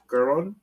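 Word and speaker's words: Garrón: This has the first artist is Javier Garon. Garon? Yeah, Put some Spanish in it. Javier Garon. Put some Spanish in it, man. Roll your R, man.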